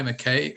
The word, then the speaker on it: McKay: that's the right pronunciation mckay or mackay mckay okay great uh olivia you're very